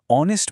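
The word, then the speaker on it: honest: মজার বিষয় কি জানেন অনেস্ট ম্যান লেখার সময় এইচ দিয়ে শুরু হলেও এইচ টা একদম সাইলেন্ট বা নিঃশব্দ থাকে এবং ও এর উচ্চারণ আসে তাই এটা হয় এান অনেস্ট ম্যান।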